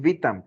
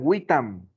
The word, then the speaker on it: vitam: ellos no decían vitam, ellos decían witam.